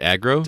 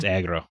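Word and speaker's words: Agro: Shadow the Colossus and got his name wrong his name is is it aggro aggro yeah I I I thought that sounded I saw Argo and I thought the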